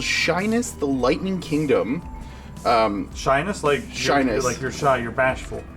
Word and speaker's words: Shiness: Shyness. You're shy, you're bashful. It's pronounced the same way, but it's spelled SHINESS. Shyness.